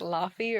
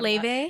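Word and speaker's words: Laufey: It's like Lafy or Le. That's how you say it. That's right. What is it? Le I love Le. It looks like Lafy if you're like over 40.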